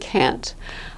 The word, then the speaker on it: can't: speakers native English speakers do not pronounce their final T with can't meaning cannot I agree here's a